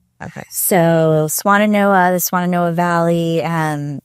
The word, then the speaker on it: Swannanoa: me how to say it we went to swanana NOA okay so swanana NOA the swan NOA Valley um there was just